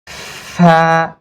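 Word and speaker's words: ف: তো এটাকে বলা হবে ফা। কি বলবো? ফা। কোথায়? এই যে দাঁতটা এই নিচের ঠোঁটের পেটের উপরে কামড় দিয়ে ধরবো, ফা, ফা।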